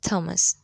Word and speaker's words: Thomas: Note, th is usually pronounced th or d, but sometimes t. Thailand, Thames, Thomas.